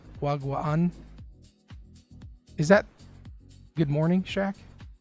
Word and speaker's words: Wagwan: Wagwan. In Filipino, it's wagwaan because there's two A's. Wagwaan. But I'm pretty sure it's not pronounced that way in Jamaican.